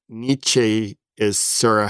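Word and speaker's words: Nietzsche: I just listened to a whole debate on how do you actually pronounce his name? So, I'm not gonna get into the debate, but like niche is sort of how I've heard it, but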